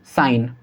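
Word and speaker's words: sign: से पहले जी है, तो इसको हम क्या पढ़ेंगे? डिज़ाइन, कैंपेन, रिज़ाइन और साइन। ठीक है, तो इन सभी के अंदर जी साइलेंट है।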